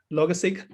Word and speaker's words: Logseq: Yeah, personally, I just pronounce it as Logseq because yeah, people ask the same question always because I'm not a native English speaker, and the seq is coming from the sequence.